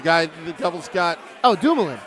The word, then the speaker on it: Dumoulin: How do you pronounce his name? For what? The guy the Devils got. Oh, Dumoulin. Dumoulin, yeah, Dumoulin.